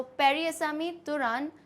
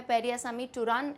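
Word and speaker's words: பெரியசாமி தூரன்: All right, सो पेरियासामी तुरान, या फिर इनका नाम है पेरियासामी टुरान, ऐसे प्रोनाउंस किया जाता है।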